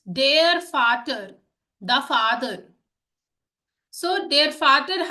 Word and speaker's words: Vater: And you can see we have written Vater, but we are saying Vater because das Volkswagen, right? Every V in German is F. Okay, is pronounced F.